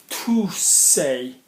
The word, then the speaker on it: tousser: want you to work out if you can spell it. Okay? Tousser, tousser.